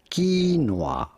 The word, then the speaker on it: quinoa: We are looking at how to pronounce quinoa. Quinoa. You do want to stress on the first syllable rather than the second one.